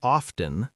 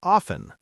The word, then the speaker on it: often: Some people say often, some say often. Both are acceptable now.